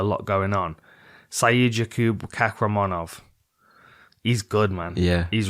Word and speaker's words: Kakhramonov: Is it Kakhramonov? It is, yeah.